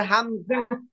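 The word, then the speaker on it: همزة: হামজা এভাবে স্বাভাবিকভাবে বলবেন, হামজা। এই হাম, হামজা, আমি একটা কথা বলে শুনেন, হামজা আর আলিফ, হামজা আর আলিফের মধ্যে কোনো টান নাই।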